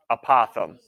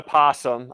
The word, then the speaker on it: apothem: o th e M apothem apothem not a possum apothem okay apothem and here's what an apothem is ready from the